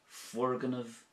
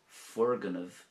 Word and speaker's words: Foirgneamh: So in Irish we would say Fuirgneamh nua, new building, Fuirgneamh nua.